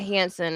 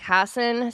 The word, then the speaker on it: Hassan: It's not Hansen, it's like Hassan Steven Hassan.